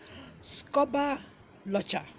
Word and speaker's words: scobberlotcher: Then this one, scuba locher. Scuba locher. It is spelled SCOBBERLOTCHER.